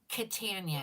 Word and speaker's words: Catania: Katana, and it's spelled Catania.